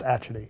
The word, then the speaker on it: Atchity: No, so, it's pronounced Atchity. Oh, sorry. Atchity.